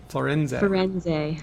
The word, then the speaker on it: Firenze: How do you say that? Firenze. Firenze. In Italian.